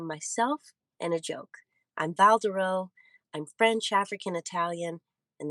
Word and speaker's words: Val Douroux: out of the way i'm valdero with the silent x and sometimes that x